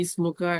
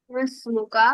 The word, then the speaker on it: ما اسمك: ইসমুকা, এটা কিন্তু কারেক্ট হলো না, কারণ আমরা পড়েছিলাম না একটা হামজা আছে, যে Oh, হামজাটা আগে হরকত থাকলে তখন হামজাটা উচ্চারণ হয় না, মাসমুকা হবে। Masmuka.